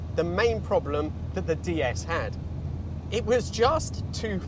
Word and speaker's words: DS: One final thing about the name, it has a wonderful punt about it because in French, DS is pronounced D S, which is also their word for goddess, which I think is